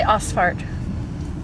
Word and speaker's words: Ausfahrt: How do you say Ausfahrt?